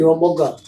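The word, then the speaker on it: Shivamogga: How do you pronounce it? Shivamoga.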